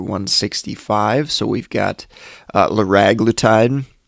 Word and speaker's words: liraglutide: so we've got uh lorag glutide uh I've also heard it pronounced liraglutide uh probably liraglutide is the most common pronunciation I've heard uh brand name is